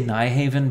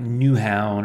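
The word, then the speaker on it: Nyhavn: It's a series of brackets at, I say Nyhaven, but I think the actual Danish pronunciation is something like Newhavn or something.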